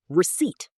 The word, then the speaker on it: receipt: Receipt. Receipt? Careful, the P is silent.